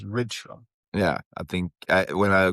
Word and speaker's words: Rydström: In Swedish, Henrik Rydström. Because the official pronunciation that he sent out was Rydström.